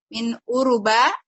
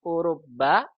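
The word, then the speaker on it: أوروبا: Kam taliban fihi min uruba. Begini bacanya, min urubba gitu ya.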